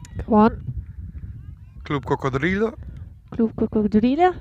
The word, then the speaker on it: cocodrilo: Cocodrilo. Cocodrilo. Oh, cocodrilo. So the R moves in Spanish from where you got it in English. I mean, it moves 2 syllables.